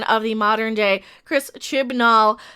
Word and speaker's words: Chibnall: And yes, I am not a fan of the modern day Chris Chibnall. Hey, I said it right without saying chimballs.